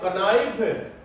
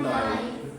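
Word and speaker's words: knife: जैसे उदाहरण के तौर पर हमने बताया, लिखने में तो कनाइफ और बोलने में नाइफ, लिखने में कालम और बोलने में कालम।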